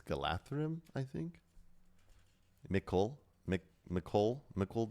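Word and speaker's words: Galadhrim: Like I I learned that uh I always said Galadrim, but it's Galatham.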